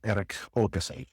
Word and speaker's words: Erik Åkesson: So with Erik Åkesson, am I pronouncing it correctly?